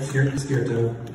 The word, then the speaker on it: Skerto: And that's how you say it, Skirtan.